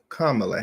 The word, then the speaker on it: Kamala: So the way you tend to pronounce it is Kamala Harris, like Kamala Harris. So it's Kamala Harris, right?